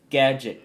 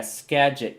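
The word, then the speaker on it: Skagit: SCA scadget scagget sca I I I think it's pronounced scadget county yeah scadget county I believe that's how it's pronounced it's because my name is Yeah, it's the best.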